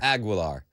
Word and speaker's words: Aguilar: how do you say his last name agar Aguilar all right Pete Aguilar uh he was slamming